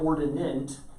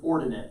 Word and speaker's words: ordinate: is called the ordinate the ordinate again that's not ordinant i've seen that before or it's ordinate but it's ordinate it's how it's pronounced you put this abscissa